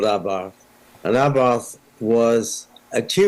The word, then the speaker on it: Abarth: Now, I'm pronouncing it the way I was taught how to pronounce it. Abarth's correct. Correct. The pronunciation is because, correct. you know, there are people that go, oh, it's Abarth. No, it's not. That's it's it.